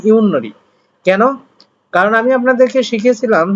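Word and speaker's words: 윷놀이: তাহলে প্রণাম করার পরে ইউনরি রুল, এখন এখানে উচ্চারণ হয় ইউতনরি, ইউতনরি উচ্চারণ হওয়ার কথা, এখন আপনি উচ্চারণ করবেন ইউনরি।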